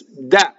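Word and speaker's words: deh: D-E-H is one of those interjections that causes a phrasal doubling. And it's da.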